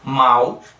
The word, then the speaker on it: mal: Aqui, tradicionalmente, o U com fonema U mesmo, né? Mal. A gente fala mal, tem o U no final. Agora, observa a letra O na palavra pão.